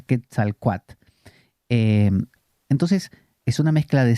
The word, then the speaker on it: Quetzalcóatl: Por lo menos en México me explicaron que la L final, aunque suena muy bonito, no se pronuncia. Quetzalcóatl.